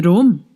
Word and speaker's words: Rome: To Rome. It rhymes with dome.